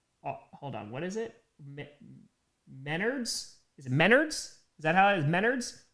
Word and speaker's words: Menards: Yeah, it's like meth nards, right? Meth nards. Menards.